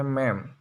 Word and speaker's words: ma'am: Cara bacanya ma'am atau madam.